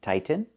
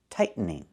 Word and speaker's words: tighten: make a real T, tighten, or you can make a stop T, tight, and then go to the N, tighten, tightening. Remember the verb tighten. It means to make something tight. You can tighten a hose onto the faucet. Example, he's tightening the hose. Or he's tightening the hose. But I cannot say he's tightening the hose. Don't use a fast D.